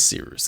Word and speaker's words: Cyrus: My name is Seeroos. It's spelled like Cyrus, but not like Sea Rooster. Just take out the terror.